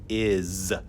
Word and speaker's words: is: The word is the short I, is. And that S is like a hard voiced S sound. It's like a Z. Is.